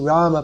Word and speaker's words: Rama: So we can chant Rama. If we chant Ram, it's not the worst thing in the world. But it might be better to chant like that.